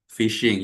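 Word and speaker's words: phishing: Di sini tulisannya kayak fishing tapi bacanya adalah fishing ya.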